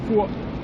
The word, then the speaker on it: Fur: It's spelled kind of like fur, but it's Fur in Danish.